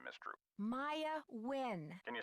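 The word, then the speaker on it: Nguyen: Maya Wynn. Can you spell that, please? M-A-Y. Is that how you pronounce that surname? Yeah. N-G-U-Y-E-N. Like when?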